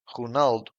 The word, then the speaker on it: Ronaldo: a mid openen o Ronaldo in Portuguese sounds honald the stress syllable is In N and both O's are shut v e v e